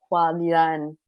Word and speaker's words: HuaLian: R: Yeah C: Okay, HuaLian, that's how you pronounce it. C: I just called it Hoolian.